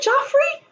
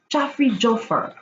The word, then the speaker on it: Joffer: Joffrey? Oh, am I pronouncing it wrong? Joffer.